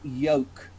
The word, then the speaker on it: yolk: flip that here because it's got a letter in it with an L it is unvoiced we say yolk yo they oke yes